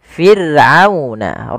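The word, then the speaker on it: فِرْعَوْنَ: kasrah, maka ra-nya tipis, tidak boleh dibaca tidak, tapi fir'auna, ra-nya tipis, kita namakan dengan ra tarqiq.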